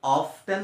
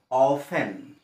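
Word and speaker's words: often: টি ই এন আছে এখানে টেন হবো কিন্তু অফ টেন না হয় এতো অফেন অফেন আর 19 নম্বর আছে এক্স ই আর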